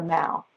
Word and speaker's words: the Mall: just being on the Mall, which is how they say it. They don't say mall like we do, they say Mall.